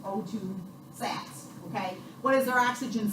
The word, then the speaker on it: sats: Saturation, guys, not stats. Stats is a math class. Okay, it's called saturation. It's spelled S-A-T. So when you're talking about O2 sats, do not say O2 stats to your people when you're giving a report. Because it's not a stat, it's a saturation.